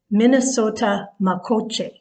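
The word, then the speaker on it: Mni Sota Makoce: can so for example minnesota is derived from a dakota word and it's minnesota makoche and what that means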